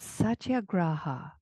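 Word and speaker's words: satyagraha: It's called Satya Graa. And it's spelled S A T Y A G R A H A. Satya graa.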